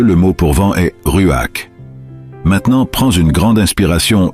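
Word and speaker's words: רוח: Ce mot se prononce comme Ruach, et vous devez faire un son dans votre gorge à la fin.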